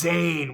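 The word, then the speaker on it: Zane: him sane enough that his name is Zayn which rhymes with pain and it rhymes with sane which he isn't because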